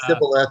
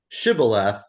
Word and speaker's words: Shibboleth: pronunciation, And they and said Sibboleth instead of Shibboleth. So the test word is Shibboleth, but they couldn't pronounce it right. So instead of Sha, they would pronounce it Sa.